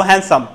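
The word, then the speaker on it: handsome: করব কার্যকর করব আমরা আমরা বলবো হ্যান্ডসাম হ্যান্ডসাম অনুচারিত থাকবে তাহলে শব্দগুলো আমরা হচ্ছে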